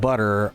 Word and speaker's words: butter: In casual English, the T is pronounced more like DD. So when you're saying the word butter, in casual English, it sounds like butter.